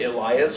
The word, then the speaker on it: Elias: order I will say I pronounce it Elias because I believe ain't worth is yeah he might not be human but he's ostensibly British and he lives there so in English and be Elias she